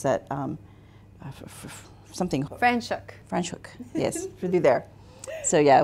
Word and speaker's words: Franschhoek: I think when we did like a really quick tour through, how do you pronounce that? Something. Franschhoek. Franschhoek, yes, through there.